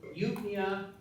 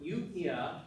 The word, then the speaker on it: eupnea: So eupnea, dyspnea, and orthopnea. So eupnea, this is a word from a Greek root,